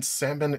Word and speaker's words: salmon: Pronounce the L in salmon is silent.